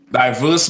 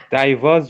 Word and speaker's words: diverse: Diverse weights. Diverse. Diverse. It's spelled that way. Just imagine it had an E at the end. Right? Diverse means differing versus diverse, which is more than one diver.